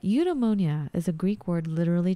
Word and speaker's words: Eudaimonia: Eudaimonia.